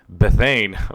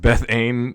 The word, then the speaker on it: Bethan: Bethane. Bethane. So I realized this when I was editing the video. It's not pronounced Bethane, it's pronounced Bethan.